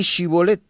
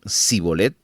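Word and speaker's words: שִׁבֹּלֶת: respondían no le añadían pues di shibolet pero si no podían pronunciarlo correctamente decían zolet entonces le echaban mano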